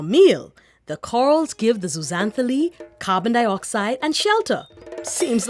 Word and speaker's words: Zooxanthellae: First up, I hope you're ready for this big word that's really not so hard to pronounce when you give it a try. Zooxanthellae.